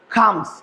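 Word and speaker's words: comes: এখানেও একটু aspirated sound use করবো, এটাকে আমরা বলি কামস। সঠিক উচ্চারণ বা প্রনাউন্সিয়েশন হচ্ছে খামস, খামস।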